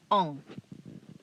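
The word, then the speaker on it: aux: normally plural it has to be plural regardless of gender whether it's male or female you use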